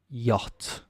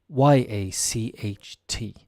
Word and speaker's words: yacht: the Bella is a sale and it's a yacht yacht y-a-c-h-t yacht a lot of people don't know how to pronounce the word why because it doesn't come